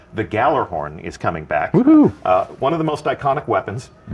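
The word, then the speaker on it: Gjallarhorn: tell you that a rocket launcher called the Gallarhorn is coming back.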